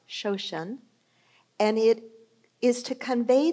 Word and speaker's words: shoshin: I think it's pronounced shoshin, and it is to convey the idea of the beginner's mind.